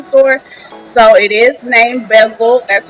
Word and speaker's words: Bezelled: So it is named Bezel, that's how you pronounce it, and please check me out.